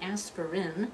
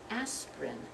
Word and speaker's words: aspirin: I'm sure you're gonna need not an aspirin you're gonna need an aspirin - only two syllables aspirin okay when you go